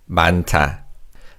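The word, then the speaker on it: 많다: The first syllable man has aim and a he and the he combines with a t in the second syllable to make a t sound. So this is pronounced as bant. Banta.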